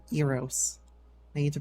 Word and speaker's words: Eros: with a horny boy not Aros sorry Aro Eros I need to pronounce